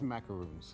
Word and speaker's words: macarons: macarons or macaroons? What is the correct pronunciation? It's macaroons. Macaroons.